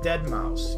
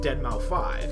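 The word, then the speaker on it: deadmau5: it's a Roman nmal it's kind of like dead mouse you know if you're if you don't know how to pronounce it you say dead mouth 5 and you have no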